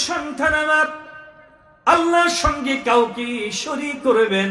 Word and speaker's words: শিরক: শিরিক। অপরাধের জগতে গুনাহের জগতে জুলুমের জগতে সবচেয়ে বড় অপরাধ হচ্ছে শিরক কোনটা শেরেক না শিরক আমরা অনেকে উচ্চারণই করতে পারি না শেরেক না শব্দটা শব্দটা কি